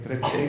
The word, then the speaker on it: Ege: And after a semester in the Department of Archaeology at the University of Ege, is that pronounced correct? He's near Ege is correct.